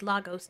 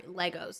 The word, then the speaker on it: Lagos: set in a futuristic losos Nigeria sorry Legos that's how they pronounce it for some the exciting